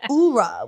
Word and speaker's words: KOURAJ: So everyone who's like me, who almost mispronounced her name, don't do it. Get it right. Now y'all heard it here on All the Above, so you have no excuse. It's like KOURAJ with a K.